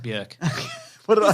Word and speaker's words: Björk: No, it's pronounced Björk.